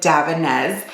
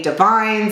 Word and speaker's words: Davines: So the brand Davines, and that is how you pronounce it, Davines. I know people will say Davines and other things like that, but it was founded in 1983 in Parma, Italy by the Bellotti family.